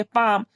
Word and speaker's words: palm: यहाँ एम के पहले क्या है हमारा, एल है, तब यहाँ क्या, एल साइलेंट रहेगा, इसे हम क्या पढ़ेंगे, पाम, जिसका हिंदी मतलब क्या होता है, हथेली।